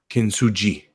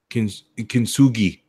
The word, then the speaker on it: Kintsugi: I think it's a hard G. Kintsugi. G. Kintsugi.